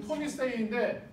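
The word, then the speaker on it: Tony Hsieh: 이 사람은 토니 세이인데 이름이 토니 H 묵음 토니 세이라는 사람이에요.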